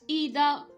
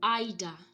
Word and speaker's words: either: pronunciation of these words this word could be pronounced as either it could also be pronounced as ida either either both are acceptable that we have neither